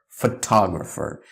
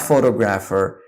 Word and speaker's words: photographer: someone who takes photographs or he's a professional photographer it's not photograph ER it's photographer so first we have photograph the